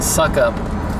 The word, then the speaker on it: Sukup: It's SUKUP, which I pronounce as suck up.